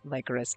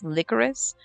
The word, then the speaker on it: Lycoris: is Virche Evermore Epic Lycoris. I know it's Lycoris. Somebody told me that in the first game that's how they pronounce it, but that sounds disgusting because it's like liquor.